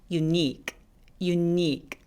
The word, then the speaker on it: unique: 강세가 니에 오거든요. 이 음절이 오기 때문에 unique. 그래서 이렇게 발음 소리만 내주세요.